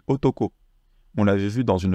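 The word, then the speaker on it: 男: mis le tracé ici ça se lit Otoko on l'avait vu dans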